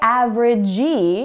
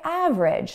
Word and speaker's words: average: Again, this verb ends in E, but the sound it ends in is J, like a G. We don't say average, we say average.